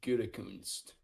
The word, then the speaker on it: Gutekunst: Oh yeah, I was talking about pronunciations. So it's Brian Gutekunst.